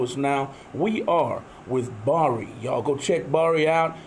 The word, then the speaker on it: Bxri: We are with Bari.